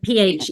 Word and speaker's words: Phenix: It's spelled Phoenix, but she PH, pronounced yeah, Phoenix.